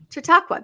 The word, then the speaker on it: Chautauqua: And then finally, we'll say ciao to, I'm not even going to try to pronounce it, Chautauqua. Is that how you say it, Bill? Chautauqua? Chautauqua. That's what I thought.